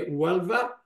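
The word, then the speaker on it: Huelva: هذه صوره ايضا حديثه، كما تلاحظون الاتش هنا مثل لفظ، فهي ولفا، اوكي، فهذه هي المدينه اللي كانت التي توفى فيها ابن حزم الاندلسي.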